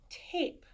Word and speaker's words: tape: Now watch what happens when I add silent E to this word. Tap becomes tape. T, a, p, tape. This silent E made this A say its name. Do you see that? T, a, p. That's the short sound. T, a, p. Tape. The A said its name.